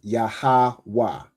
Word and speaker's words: Yahawah: So the letters are Ya, Ha, Wa, and Ha, but you pronounce it as Yahawah, right?